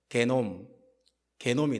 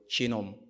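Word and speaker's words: genome: 이 게노스가 뭐냐면요, 이 단어가 독일어로 가서 게놈이 돼요. 게놈. 여러분, 게놈이 뭐예요? 유전자를 말해요. 게놈. 그리고 이 철자 그대로 영어 철자도 똑같아요. 발음만 바뀌어요. 지놈.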